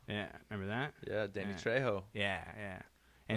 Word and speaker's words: Trejo: I'll fucking call him Danny Trejo. It would be Trejo. Trejo, because the J is an H in Spanish. The J is silent. It's an H.